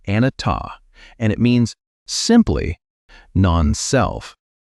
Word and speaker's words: Anattā: He called this teaching Anattā. Say it like Anattā, and it means simply non-self.